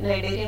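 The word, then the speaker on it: Cnidaria: इसमें नाइडेरिया में सी साइलेंट रहेगा।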